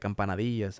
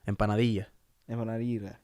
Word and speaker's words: empanadilla: That's not how you say it in Spanish. Empanadilla. Empanadilla.